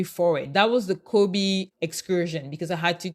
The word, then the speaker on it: Kobe: in the city of Kobe actually pronounced Kobe so my friend told